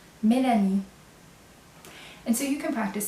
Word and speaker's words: Mélanie: In English is Melanie, right? And in French it's Mélanie. So I'm going to spell it M, E, accent aigu, L-A-N-I-E, Mélanie.